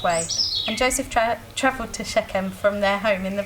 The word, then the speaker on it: Shechem: Shechem. Shechem. Shechem.